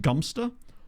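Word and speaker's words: Godmanchester: It's spelled God Manchester, but there's some debate over whether it might be actually pronounced Gumpster or whether that's one of those things that was recconed onto it because of the way that other towns are pronounced like that, which I've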